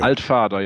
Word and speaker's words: Altvater: Let me see if I can how good a job I can do with the German pronunciation of your name, Altvater. How'd I do? Altvater, yeah, pretty close.